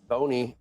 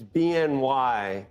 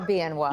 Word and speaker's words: BNY: Levine, Head of Investment Strategy and Equities at Boney. No, wait a minute. It's BNY, but it's BMO. BMO, you pronounce BMO, right? But we're BNY. But you're not Boney. Okay. We are BNY.